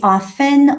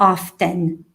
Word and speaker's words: often: again you often again you can say often or often often or often okay so